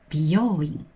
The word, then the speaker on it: 美容院: In both words, u is pronounced as o, since it comes after the vowel o in 病. 病院 has 4 mora, and 美容院 has 5 mora. If you pronounce 病 as 美容, which has 2 mora, people will think you're saying 美容院 instead of 病院. Please remember this rhythm.